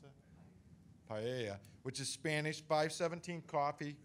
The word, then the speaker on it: paella: And the ones we have coming in this year is Fire and Rice, which they do at Pinella. Is that how you pronounce it? Paella, which is Spanish.